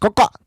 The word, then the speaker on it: COXO: You can also, if you're ever in Glen Ellen, Illinois, find some merch being sold at House of, I will just spell it out, COXO, pronounced Coca.